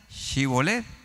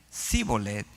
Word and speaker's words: shibolet: Entonces ellos decían cibolet y a todo el que decía shibolet no lo mataban y al que decía sibolet lo mataban. dice, "Porque no podía pronunciarlo correctamente."